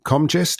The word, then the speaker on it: Comgest: And you were talking to the Comgest. Is that how you pronounce it?